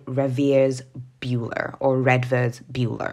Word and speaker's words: Redvers: called ravier buer or reders buer I'm just going to go with rivers because that's how I saw his name being pronounced somewhere else and he is a